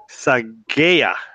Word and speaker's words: Saghieh: or enrolled agent I should say sorry Abe psy gaya did I pronounce that right you got it right yeah